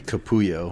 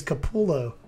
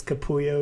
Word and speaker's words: Capullo: especially foreign looking ones he seems to be capuyo right yeah i always thought it was kapullo but i guess capuyo is better yeah you're just saying it really ease phonetically very phonetically